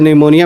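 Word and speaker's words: pneumonia: और इसमें पी जो है वो साइलेंट है। जैसे आप सुनामी लिखते हो। सुनामी में टी साइलेंट होता है। वैसे निमोनिया में जो है वो पी साइलेंट है।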